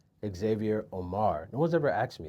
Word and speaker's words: Xavier Omär: So, but yes, Xavier Omar. Now, aside from people mispronouncing it, do people misspell it as well?